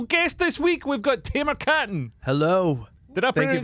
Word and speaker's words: Tamer Kattan: Tamer Kattan, yeah.